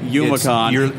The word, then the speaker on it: Youmacon: It looks like Youmacon. You're the quinoa of conferences, is what I'm getting out of this. Yeah. It's because it's Japanese phonetics. Ah, okay. So the U is silent.